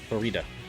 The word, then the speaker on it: Farida: Because it rhymes with fajita. Farida. How far along are we now?